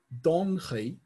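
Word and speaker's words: Donchad: So donchi is D-O-N-C-H-A-D. Donchi.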